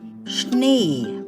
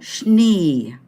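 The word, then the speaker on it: Schnee: noun now take note s c h this combination of letters that's pronounced as sh as in Shepherd shell so shne it's a masculine noun there shne German is fun do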